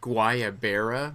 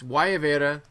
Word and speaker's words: Guayabera: in the intro of the show I said guayaberas very white boy of me it's why Avera that's how you pronounce it and that's those shirts I used